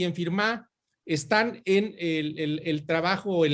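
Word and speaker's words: Firmin: con este gran haitiano, Antenor Firmá, se escribe Firmín.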